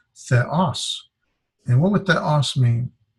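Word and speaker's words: θεός: And then this is theta, eta, and we would separate the 2 vowels because they're not diphthongs. And so this is theos. The accent is over here in the second syllable, so it's theos.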